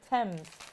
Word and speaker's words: Thames: And Sylv Sparkley says Thames used to be pronounced as it is spelt until King George I, who was German, couldn't pronounce it, and the whole court started pronouncing it Thames to avoid embarrassing the king.